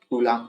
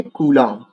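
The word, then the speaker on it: Coulomb: तो सीजीएस पद्धति में आवेश का जो मात्रक होता है वो मेरे भाई स्ट्रेट कलाम होता है।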